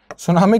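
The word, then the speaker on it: tsunami: नहीं है सुनामी की स्पेलिंग में टी साइलेंट होता है यह लिखी जाति है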